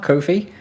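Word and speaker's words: Ko-fi: a bit um and he pronounces it um coffee and i pronounce it coffee so i pronounce it kofi as well but i imagine it's supposed to be coffee because obviously when you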